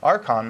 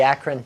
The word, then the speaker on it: Akron: coming out of from archon Ohio or Acron I don't know how to pronounce it Akron Ohio it would be Akron well this is an